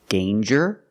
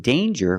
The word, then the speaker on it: danger: pronounced different ways example danger and anger so with danger we hear the J sound Danger there's no nasal sound there's no um it's a regular n Dane with Egypt sound